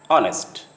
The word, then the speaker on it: honest: In some words, the H sound at the beginning often is not pronounced. For example, honor, hour, honest. When the H sound comes